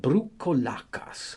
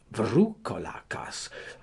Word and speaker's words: Broucolakas: They call them Broucolakas or Vroucolakas, according as they pronounce the second letter of the alphabet.